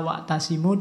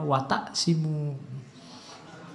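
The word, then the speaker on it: وَاعْتَصِمُوا: Harusnya wa'tasimu, dia membacanya wataksimu.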